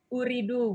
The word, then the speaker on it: Ooredoo: Uredo apa Ooredoo? Oh ya, jadi ini bacanya Ooredoo Bu Ratna, teman-teman. Oh iya, Ya. bacanya Ooredoo teman-teman. Ooredoo, kayak rindu gitu ya, kayak gitu, rindu-rindu gitu.